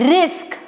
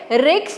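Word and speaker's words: risk: हम देख रहे हैं इसको हमें ऐसे बोलना है रिस्क। ठीक है? रिक्स नहीं बोलना है क्योंकि बहुत से लोग इसे रिस्क बोल देते हैं।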